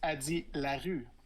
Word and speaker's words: Addie LaRue: Oui, it's Addie LaRue. Addie LaRue.